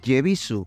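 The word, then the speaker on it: Yebisu: Como pequeñas curiosidades para añadir y hacer ya más redonda esta microhistoria, antes he mencionado que la cerveza se escribe Ebisu con una Y adelante, pero que esta es muda.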